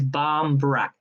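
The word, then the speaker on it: barmbrack: that's the shortened version the answer is barm brac bomb brac b-r-a-c-k barm brac so i'll give you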